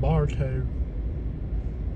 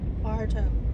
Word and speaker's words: Bartow: this is a gorgeous little town it's called Barto let me hear you say it properly Barto Barto Mar 800 turn left this is just